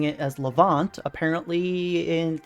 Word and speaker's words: Levant: I've been pronouncing it as Levant. Apparently, it's canon in the game that it's Levant.